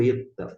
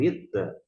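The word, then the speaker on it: ήτα: nós estamos diante do Eta o eta é equivalente ao nosso e observe que o maiúsculo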